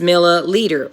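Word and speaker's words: milliliter: what's unique about that it rhymes right meter and leader rhyme so it's easy to know I'm looking at a metric unit cause it either says meter or it rhymes with meter and says leader so it's not millimeter it's milla leader which I also remember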